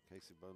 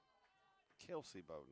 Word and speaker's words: Kelsey Bowden: So Casey Bowden will be the batter here. Kelsey Bowden. I said it wrong, Mark.